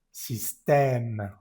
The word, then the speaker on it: système: Système, esto es amarillo. Y está E al final de la palabra système, no se pronuncia.